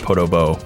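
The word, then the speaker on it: Podoboo: podo bo bo dobos it's spelled like podo boo what apparently is pronounced photo bow okay that was weird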